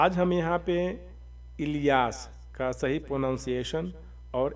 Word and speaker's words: الیاس: الیاس، الیاس، ال اور یاس۔ اس حساب سے جب